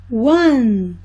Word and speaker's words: one: One, one. Se escreve O-N-E, mas se fala com som de U.